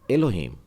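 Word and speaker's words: אלוהים: आपके लिए ओ खोलम इसके लिए मैंने एक उदाहरण लिया है और यह है एलोहिम सेम शब्द है एलोहिम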